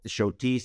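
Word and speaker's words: Schotis: to that we really loved was Taberna L shotis it's spelled s c h o t i s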